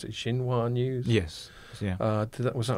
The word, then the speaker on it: Xinhua: from people like, I don't know how you pronounce it, Xinhua News?